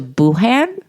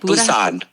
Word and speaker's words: Busan: Chachi BT thinks we should take a flight to Bhan. Is that Does that sound right? Busan.